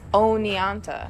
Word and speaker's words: Oneonta: It's not that hard to pronounce. It's Oneonta.